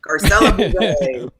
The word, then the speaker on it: Garcelle: ed mcmahon could never say my name right garcelle yeah that was i mean so many people